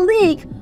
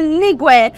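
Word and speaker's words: league: So in our leak, my ig is pronounced, but my ue is not pronounced. So we don't say ligue, we say leak, ig.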